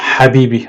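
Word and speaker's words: حبيبي: Ici, on entend ha, ça se prononce habibi.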